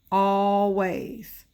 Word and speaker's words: always: we had always and this one has two syllables to always because I see all even though it's one L all ways found no and your